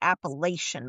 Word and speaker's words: Appalachian: it's not um I can't even say it wrong now because I know how to say it. The Appalachin Oh, those mountain the Appalachin Mountains. I think that's even how you maybe saying it wrong, but now from where I'm from up in Pennsylvania, those are the mountains. We would always say the Appalachian Mountains up there, but if you get